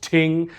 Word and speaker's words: thing: Every once in a while when a reason arises someone will call a ting which you write as thing but it's pronounced ting.